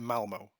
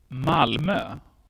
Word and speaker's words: Malmö: i call it malmo but the correct way of pronouncing it actually is malmo but whatever you say the city was named the happiest in sweden in 2016.